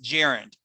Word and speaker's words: gerund: know the word starts with a g it's pronounced gerund a gerund g-e-r-u-n-d in english if you want